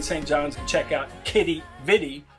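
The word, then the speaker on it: Quidi Vidi: to be in St John's and check out Kitty vidi not quitty vidi as some of us might have been saying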